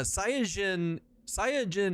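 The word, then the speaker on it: サイヤ人: Yeah, Saiyajin is just the Japanese way of saying it.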